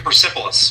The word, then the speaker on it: Persepolis: You published an article on the Daily Caller, and a trip to, how do you pronounce this city? What's the name of the city? Persepolis.